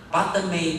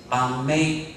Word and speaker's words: padme: 的时候，西藏的人舌头比较大，巴德梅它就念成巴梅或巴咪，所以就